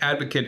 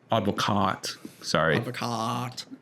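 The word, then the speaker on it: Advocaat: And Advocate and Hiddink are two of the like extreme examples of that, right? Like they've been Oh, Advocac.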